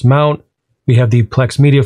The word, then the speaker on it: mnt: making a directory in the slash mnt directory pronounce mount we have the plex